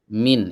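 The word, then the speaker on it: من: huruf Jar yang pertama min itu bacanya Min apa Man Min di kasroh mimnya ya kalau Man bukan huruf Jar Man bukan huruf Jar min itu huruf Jar ini bacanya min min artinya dari Ila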